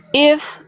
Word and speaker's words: إذ: Fokus pada zal sukunnya, dialirkan suara tanpa memantul bunyi z di ujung pelafalan az. Coba. بإذني Nih, ya itu bisa. Lanjut yang ini. إذ تصوروا إذ Sekali lagi.